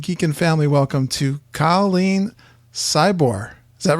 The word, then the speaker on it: Szczybor: So it's Szczybor. You just pronounce it almost like Yeah, you just forget all the other Just Z's. Ignore. Szczybor. Yep. 2 silent Z's.